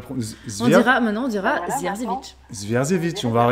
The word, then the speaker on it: Zierzevic: Zierzevic.